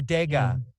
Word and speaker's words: Degas: Edgar Degas yeah Oh de gah oh that's daga Paul gangrene oh go go go get poked again Edgar Degas that's how you say it if you're French Edgar Degas Edgar Degas